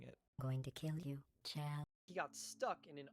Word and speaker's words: Chell: Now, as you saw, Shell's model got... It's pronounced Chell. Here's an audio clip of GLaDOS saying it. Going to kill you, Chell.